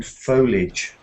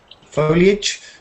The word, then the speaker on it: foliage: or in the garden foliage foliage uh well you some people don't bother to split that up into foliage they say foliage Mirage and age okay